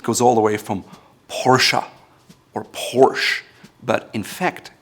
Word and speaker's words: Porsche: It goes all the way from Porsche or Porsche, but in fact, it's called Porsche. Porsche. Ferdinand Porsche. He was the founder. Porsche. Porsche. Not Porsche or Porsche, but Porsche.